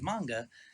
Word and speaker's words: manga: I know how the Japanese say it. I've heard them say it. The correct pronunciation is manga, and I understand why people would say manga.